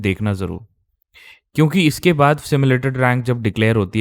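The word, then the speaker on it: simulated: Channel जो मिल जाए जो स्टिमुलेटेड स्टिमुलेटेड बोल रहा है इसे उसका चैनल उसी टाइम अनसस्क सब्सक्राइब कर देना। बिकॉज़ उसको पता नहीं है सिमुलेटेड रैंक के बारे में। उसको पहले तो प्रोनाउंसिएशन पता नहीं है इसकी। सिमुलेटेड रैंक बोलते हैं इसे।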